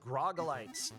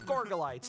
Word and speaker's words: Gorgolites: Ooh, Glitch Cat trapping one of the Grogolites. Let me check. Just checking the pronunciation, okay? Because I thought it was It's fine. No, it is Gorgolites.